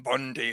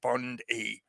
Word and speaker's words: Bondi: involved not just Pam Bondi herself I'll point out as well the name Bond I bond E. Yeah, I know we pronounce it E in the English language or most of us anyway.